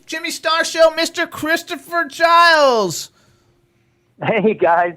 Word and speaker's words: Giles: Giles. Yes, sir. Giles. I had to make sure. I made sure I didn't want to pronounce it wrong. Did I say Giles? You said Giles, yeah.